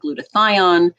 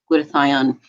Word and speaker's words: glutathione: it with other powerful antioxidants so antioxidants like glutathione coq10 vitamin D so I recommend doing a